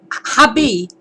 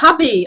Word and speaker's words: Javi: Habi. Javi, yeah. Oh, Habi. Okay. So Spanish name. the V's a B sound. B, okay. and J-A is pronounced like Ha.